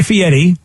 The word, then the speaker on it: Fieri: but then but also he changed it to Fieri and but spells it Fieri and tells us that it's pronounced Fieri yeah so well I've changed your name and then you yeah is in some language is f-i-e-r-e the way he spells it's pronounced Fieri I always just